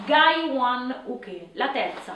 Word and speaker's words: uke: La prima è Jodanke, la seconda è Gai One Uk, la terza è Naian Uke e l'ultima è Gedan Barai. In giapponese, "block" si pronuncia "uk", un termine che deriva da " ukeru", che in giapponese significa " ricevere".